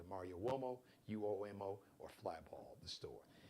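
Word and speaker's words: Uomo: him out on Instagram on IG the Mario wo and flyball collection Mario wo so wo is an Italian name so just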